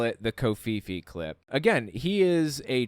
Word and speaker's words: Covfefe: So he puts out a prophecy about the word kofifi. Listen to this. This is early May 2022. Kofifi is Covfefe. And so that's how it's spelled, okay?